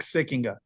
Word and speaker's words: Sikkenga: It's a a good Dutch name, Sikinga.